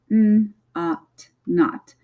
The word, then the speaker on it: knot: So remember, we don't say the K, it's just knot.